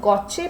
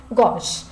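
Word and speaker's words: gauche: इसको कई बच्चे गॉचे प्रोनाउंस करते हैं. गॉचे is incorrect, you have to pronounce it like गॉश.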